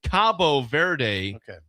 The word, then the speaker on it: Cabo Verde: This was uh it looks like Cape the locals say Cabo Verde in Ireland.